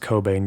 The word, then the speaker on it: Cockbain: Ella Koch bein an associate professor of security in crime science at the University College of London I know her name is actually pronounced Cobain but I'm sorry we're not